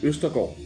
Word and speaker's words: Østergaard: So it's actually called, it's actually a Ø. It's a special letter that only us in Scandinavia can pronounce almost. So it's Henrik Østergaard.